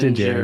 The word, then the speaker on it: Din Djarin: How do you pronounce that? Din Din Djarin.